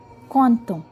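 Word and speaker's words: Quentin: इसे हम बोलते हैं कौन तो, कौन तो, क्यू यू ई एन टी आई एन, कौन ता, कौन ता.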